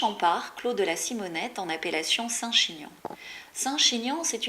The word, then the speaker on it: Simonet: longtemps la vigne de Simonet du nom d'un des très anciens propriétaires qui s'appelait Simonet mais avec la prononciation locale Simonet ça donne si Monet donc c'est une belle